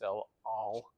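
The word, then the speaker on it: El Al: The airline of Israel, which has an ayin in it, is not el-al, it's el-al, right? It's guttural.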